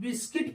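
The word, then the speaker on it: biscuit: है यू य साइलेंट ऐसे बी आई एस सी यू आई टी बिस्किट पढ़ते हैं ध्यान रखें यू य पर साइलेंट हो गया क्यों क्योंकि देखि यू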